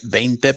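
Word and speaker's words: veinte: I had it made out of a 20 or a bent pesos. I've got to say it right. Bente pesos Mexico 22 karat.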